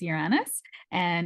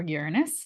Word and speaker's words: Uranus: Now, the new ruler is Uranus, or Uranus, depending on how you say it, and it's square to Venus.